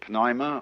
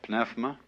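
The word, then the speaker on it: pneuma: the Greek word uh you may pronounce it penoima or pinephma uh is the same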